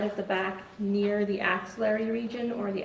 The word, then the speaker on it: axillary: the right side of the back near the axillary region or the axillary crease where your axillary crease is basically your armpit and the crease behind your arm. And you describe that as the ancillary region.